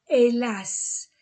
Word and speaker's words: hélas: Si, mais, A-I-S-E, hélas. H ne se prononce pas.